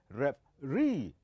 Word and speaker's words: referee: look at this word how do you pronounce this we pronounce this as referee it is referee so the last syllable it is the one that will be head louder comparing to the other and so we call